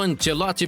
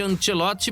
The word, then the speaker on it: Ancelotti: E a estreia de Carlo Ancelotti pela seleção brasileira não agradou aos torcedores que acompanhavam o jogo na Globo, viu?